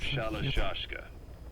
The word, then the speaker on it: Shalashaska: have known about that because somewhere along the line shashka got stuck on the end of shashka the gorillas were using the name amongst themselves by the time I got to hearing about it pronunciation had wound up as shalashaska so half gulg half